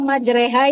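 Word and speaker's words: مجريها: hukum tajwid gitu ya kayak contohnya ee bacaan ro yang imalah pada Quran surah Hud apa lafaznya yang majreha itu Iya majrehaha di dalam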